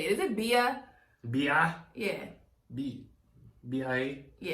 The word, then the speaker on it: BIA: I listen to one song by him with B.I.A. I don't know how you say it. Is it Bia? B.I.? Yeah. B.I.A.?